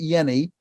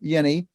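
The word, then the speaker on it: Jehne: He pronounces it Yenny. Okay. But Walter is his first name. Walter Yenny.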